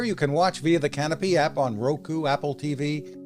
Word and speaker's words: Kanopy: gear I'm canopy spelled with a K has been around for